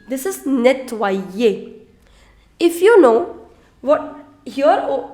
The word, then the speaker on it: nettoyer: This is nettoyer. If you know what here, over here, this Y changed into I. So this combination, in French, OI, the sound of OI is oua.